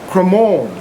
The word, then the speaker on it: Cremorne: Good afternoon, I'm here with Ruby and Peter, and we're here to discover and look around CREMORNE. I think I've pronounced that correctly.